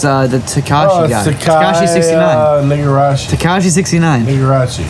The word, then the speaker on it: Tekashi: Takashi 6. No, Tekashi 6ix9ine.